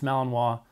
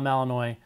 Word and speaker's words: Malinois: Okay, first off, it's Malinois, not Malinois. Please make sure you say it right.